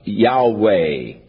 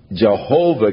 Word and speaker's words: Yahweh: opinion is that the name was to be pronounced Yahweh. But somewhere along the line, the pronunciation of Jehovah came along, or Yehovah, and it has become more popular, but Yahweh is probably the correct pronunciation, though we do